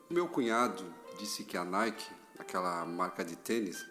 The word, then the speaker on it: Nike: A mesma grafia, só que a pronúncia não é a moda inglesa. Nike é a deusa da vitória.